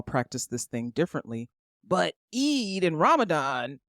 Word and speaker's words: Eid: to be out for Eid. What is Eid, little girl? I said Eid. E-I-D. It's a religious holiday.